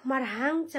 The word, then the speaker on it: मराङ्च: लिङ मराङ्च भनेको कलिलो, मराङ्च भनेको मको रको तलतिर थोप्ला दिएको छ नि र ह सँगै उच्चारण भएको मराङ्च कलिलो मराङ्च जजक